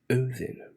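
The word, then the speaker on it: Óðinn: that he was the son of Odin pronounced oen in oros another man named scardi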